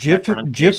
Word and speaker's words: GIF: No, GIF is not that Jif was at least the way the original creator of the concept who is a choosy developers choose GIF is not catchy.